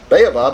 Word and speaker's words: baobab: So it's 2 syllables. I was making it 3. I was saying like baobab, but baobab, I think is what she said.